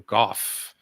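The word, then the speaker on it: Van Gogh: answer is Mr Vincent Van go or Goff as they pronounce it in Doctor Who Mr Mr handcuff all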